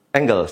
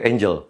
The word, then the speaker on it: angle: juga fotografer bukan fotografer Angle sering disebut sebagai Angel malas enggak sih motret menampakan malaikat di foto iso banyak yang menyebutnya